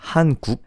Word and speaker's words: 한국: Oh, the way to pronounce Korea in Korean is 한국, and 국 is a word for country.